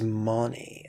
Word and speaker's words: Mani: The second syllable, Ma, rhymes with mama, and the third syllable, Ni, sounds like the joint between thigh and shin. Together as Mani, they form the Sanskrit